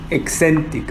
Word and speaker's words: Hexentic: ¿Cómo se pronuncia tu empresa? Excentic, ok, perfecto.